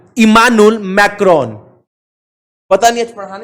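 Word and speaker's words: Emmanuel Macron: भैया एक बार और ना इसका प्रोनाउंसिएशन करिए, इमानुएल मैक्रोन। इमानुएल मैक्रोन।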